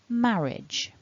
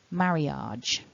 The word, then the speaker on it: marriage: it all back together remember stress the first syllable repeat after me marriage marriage marriage and as